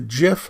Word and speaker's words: GIF: several image formats the GIF format and yes it's pronounced like the brand of peanut butter I know this because